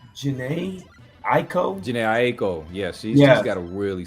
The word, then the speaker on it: Jhené Aiko: I never can pronounce her name. It's Jhené Aiko.